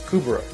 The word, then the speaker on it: Kubrow: the new kubera or kubrow well pronunciation will vary from person to person but jeff has said it as kubra overall people are coming